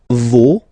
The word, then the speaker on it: vos: Okay, and then for the plural, nos, vos, and then leur. Okay, so remember, even if you've got this final s, you don't pronounce it, as it was the case already for this word.